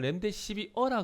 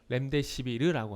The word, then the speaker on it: 렘데시비르: 그런데 그게 아니라면은 파미셀 같은 경우에는 이미 렘데시비르에 대한 이슈가 충분히 반영이 됐기 때문에, 해외에서는 렘데시비어라 그래요. 렘데시비어. 근데 우리나라에서는 렘데시비르라고 하고요.